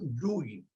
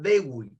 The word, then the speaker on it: Dewey: Se llama John Dewey o Dewey, como ustedes quieran pronunciar.